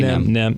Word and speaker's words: NEM: Am I saying it right? NEM. Yeah, just say NEM. NEM's easier. Sounds cooler.